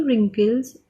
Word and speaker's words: wrinkle: My grandmother has many wrinkles on her face. See, this is wrinkle and this W over here in this word is silent.